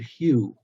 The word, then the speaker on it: HU: Mantra is the word Hue which is spelled h-u just pronounced like the color or the Hue of a color or the guy's name Hugh um and the technique